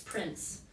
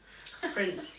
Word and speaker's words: Pince: It's funny, every time you typed it, I kept misreading it as Prince. Yeah. Fekete Pince. Yeah. Pince.